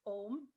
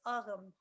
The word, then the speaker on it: Ogham: heard it pronounced as aarom which is actually the old irish pronunciation so that's the difference